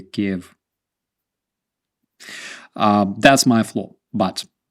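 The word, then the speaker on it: Kyiv: the Trump impeachment the ambassador to Ukraine said Kev and that is when I started changing my pronunciation and seeing the key of spelling yeah that's the thing we have this hashtag saying K not Kiev um to ukrainians it's a big deal actually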